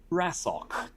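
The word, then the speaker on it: Rasocc: that you remember before you come across one wrestle in English it's spelled r-a-s-o-c-c um it translates to random and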